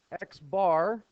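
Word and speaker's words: x̄: The top one, Xbar, that's how we pronounce it.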